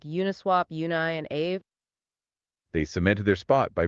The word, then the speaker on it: Aave: The protocol name is spelled AAVE. And yes, it is pronounced Aave.